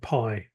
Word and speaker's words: Pi: favorite conversational chat bot is called piie ironically but but they actually they actually coined the name first but it's spelled pi and in fact if